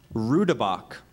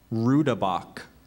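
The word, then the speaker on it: roodebok: i s t i c narcissistic that's correct rabach may I have the language of origin this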